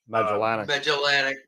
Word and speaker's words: Magellanic: How do we pronounce it? Magellanic.